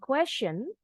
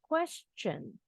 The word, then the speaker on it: question: juga dengan yang ini bukan question tapi question huruf t nya bunyinya CH can you answer the